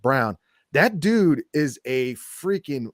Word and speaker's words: Braun: And Christian Braun this year, Brown, I'm sorry. It's spelled Braun, but it's pronounced Brown.